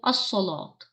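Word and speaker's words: الصلاة: हमारे पास हो गया अस्सलात। कैसे? अस्सलात, अस्सलाता। वो अकीमुस्सलाता, मीम को डायरेक्ट सौ से मिलाया, लाम को साइलेंट कर दिया।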